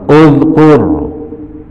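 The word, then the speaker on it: اُذْكُرْ: Nah, kalau huruf ketiganya dibaca dom, hamzahnya dibaca dom. Uzkur umur.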